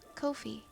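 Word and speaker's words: Ko-fi: It rhymes with no fee. Kofi.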